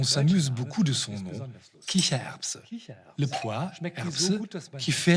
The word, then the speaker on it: Kichererbse: En Allemagne, on s'amuse beaucoup de son nom, Kichererbse, le pois, Erbse, qui fait rire ou qui glousse, Kicher.